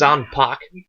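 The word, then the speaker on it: 斬魄刀: They actually omit the U completely. It's Zanpak, as in hockey puck.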